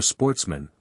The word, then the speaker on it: sportsmen: Which were of good family, who were sportsmen, a French word pronounced with the accent on the men.